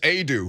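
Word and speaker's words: Aidoo: You're starting to get contributions from Brandon Huntley Hatfield and Jonas Adu, who I feel like I want to pronounce his name a different way every time I read it. But Adu's correct.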